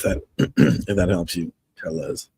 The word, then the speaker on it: Telles: if that helps you tellas like tell tubbies there you go Robert